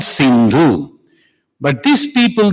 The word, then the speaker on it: Sindhu: When they used to come, there was a river called Sindhu. But these people, they could not pronounce Sa, so it became Ha. Sa became Ha. The Sindhu became Hindu. So the river Sindhu became